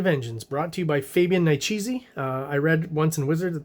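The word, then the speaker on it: Fabian Nicieza: A Tale of Time and Vengeance, brought to you by Fabian Niciezi. I read once in Wizard that's how you're supposed to pronounce it, so I'm sticking by that.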